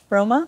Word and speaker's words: Rohma: Roma?